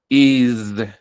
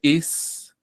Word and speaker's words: is: Estas letricas que ven en rojo se pronuncian como se escriben una s, pero se pronuncian con Z.